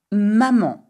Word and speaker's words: maman: If you wanted to say my mommy, you would say ma maman. Ma maman. And remember, there is an N at the end of maman, you do not pronounce it.